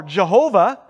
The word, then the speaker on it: Jehovah: most common pronunciations are jehovah which is a latin pronunciation that's been used since the 16th century with a j instead